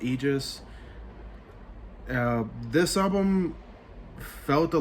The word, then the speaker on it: Aegis: up next we have aegis i believe that's how it's pronounced aegis uh this album felt